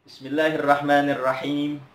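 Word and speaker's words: بسم الله الرحمن الرحيم: Jangan sampai membaca, banyak anak-anak di TK-nya ataupun di sekolahnya membacanya Bismillahirrahmanirrahim. Ini salah. Yang benar Bismillahirrahmanirrahim. Him pakai ha, bukan pakai nirrahim.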